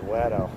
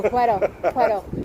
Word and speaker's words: puedo: It's pronunciated Wedo. No, Puedo.